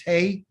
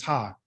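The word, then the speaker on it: ה: letter of his nick the letter name is hey but the sound of pronunciation is ha the letter name of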